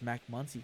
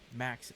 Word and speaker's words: Maxy: Pretty quick here as Macy comes up to bat now. Maxy, not Macy.